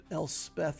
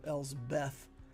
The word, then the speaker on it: Elsbeth: Whenever I say her name, I feel like, for some reason, I always want to say Elspeth instead of Elsbeth.